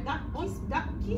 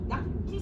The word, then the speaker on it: da chi: Da chi spero. Da chi spero. Because when you have a monosyllable in Italian, the next consonant gets double. So da chi spero, so double K.